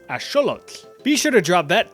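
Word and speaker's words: axolotl: You've probably been saying this as axelottle or aote for my Spanish speakers, but it actually comes from the Nawat language. So, it would be correctly pronounced as asholot.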